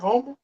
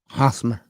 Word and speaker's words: Hosmer: Is it Eric Homer? Hosmer. Or Homer, ever his last name. Yeah, Hosmer. I can can't see pronounce that.